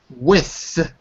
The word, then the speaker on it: with: That circle with the line through it is th. So it's with. With. That's it. And if it's possible, you have to make a little stop. Instead of with, which would be W-I-T-H, you got to make a little stop in your mouth. And you have to say with.